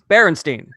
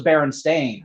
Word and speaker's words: Berenstein: a question for you how's your last name pronounced berenstein see when i was a kid i was i'm sure it was baron stain what's that see what